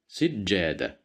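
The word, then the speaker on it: سجادة: Here we have kasra, so we will pronounce it as si, sijjada, sijjada, sijjada, which means a carpet, as you see here.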